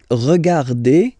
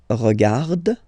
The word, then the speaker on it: regardes: So phonetically, only one form here.